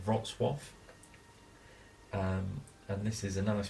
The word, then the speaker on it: Wrocław: Spelt Wrocław, but I believe it's pronounced Wrocław.